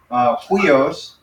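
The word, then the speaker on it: υἱός: So it's upsilon, iota, and so this is a rough breathing mark. So because it's a rough breathing mark, it doesn't sound like we, but it sounds like an H in front of it.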